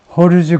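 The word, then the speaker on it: Jorge: 조르지 호르즈 고메스 이 스페인에서는 이 J를 H라고 발음하니까 호르즈 고메즈가 alone 34-year-old Honduran man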